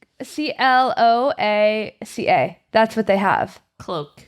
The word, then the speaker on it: cloaca: it's CLOACA.